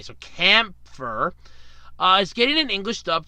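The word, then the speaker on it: Kämpfer: never heard of called camphor C a.m. P fer and think it's a long a so camphor is getting an English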